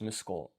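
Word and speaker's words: 息子: This has a reading of kol for a total of muskol.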